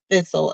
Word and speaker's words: thistle: fistle milk ftle okay it rhymes with bristles so milk thistle it helps to cleanse